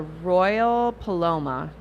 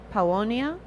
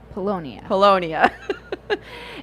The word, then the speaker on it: Paulownia: It was I hope I say it right, the Royal Paloma. Is that right? Paulownia? Polonia. Polonia.